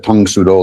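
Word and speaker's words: Tang Soo Do: Um I know I pronounced it tang instead of tongsudo like mo you're supposed to I guess, but that's my English accent to it.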